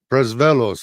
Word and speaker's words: Presvelos: The hard worker Sean and Carl's lawyer Sam Presvelos, did I pronounce that right?